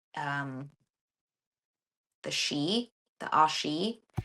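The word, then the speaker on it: sidhe: it's like um the shei the ASI it's spelled s i d h e s i d h e but it's pronounced she so um they're the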